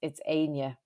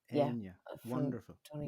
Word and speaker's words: Áine: you know, Roisin, Rashin would be pronounced differently. It's Áine. Áine.